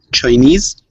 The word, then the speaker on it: Chinese: nader that one word chinese chinese all right the stress is on ease chinese chinese when you put